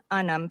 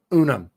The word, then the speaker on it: Unum: Pluribus Unum Senior Fellow at the Heritage Foundation. Okay. MTG. Come on. Unum. Not Unum. Like E Pluribus Unum. That's how you say it.